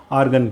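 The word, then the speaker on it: Argand: आर्गन plane. D silent है भाई, ठीक है।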